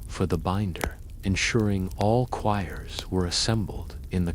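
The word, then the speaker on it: quires: The first step in binding is to organize the individual sheets into choirs, pronounced choirs.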